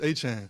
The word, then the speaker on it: Etienne: So it going up is Travis Etienne. So it would be like A C H A N E. And that's how you always said Travis Etienne.